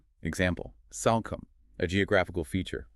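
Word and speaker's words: Salcombe: You don't try to sound the e or make the o a long vowel. It's a simple short o sound.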